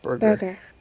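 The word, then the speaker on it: Burgher: And you're a Borger, right? Yeah. How do you pronounce that? Borger. What if they be bourgeois? I think it's just burger. Burger, actually, just like a hamburger.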